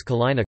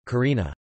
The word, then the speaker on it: Kalina: Vincent was originally named Ulumain by the native island Caribs who called themselves Kalina, Karina, L, and R, being pronounced the same in their language.